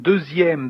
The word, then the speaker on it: deuxième: You can hear that here in deuxième that the letter X is like is pronounced like a Z, deuxième actually.